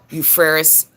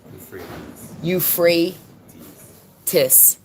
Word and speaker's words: Euphrates: drying up of the eupheris how do you say it again you free Tiss Euphrates River and then